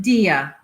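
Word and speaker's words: Dyea: d y e a my family pronounced it dia the accent on the first syllable he hunched his shoulders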